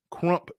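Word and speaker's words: krump: Yeah, and I'm hearing a resounding rebuke from the chat that it's actually crump dancing, and apparently we've been saying it wrong all this time.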